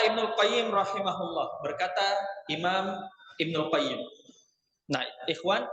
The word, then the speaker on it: Ibnu Qayyim al-Jauziyah: Nah, ikhwan, Ibnul Qayyim cara membacanya itu ketika tidak ada al-Jauziyah, antum baca dengan alif lam al-Qayyimnya, Ibnul Qayyim. Tapi ketika ada al-Jauziyahnya di belakang, maka antum tidak pakaikan al-nya di al-Qayyimnya. Maka menjadi Ibnu Qayyim al-Jauziyah. Nah, begitu cara membacanya.